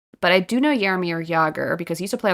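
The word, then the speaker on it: Jágr: Jaromir Jagr.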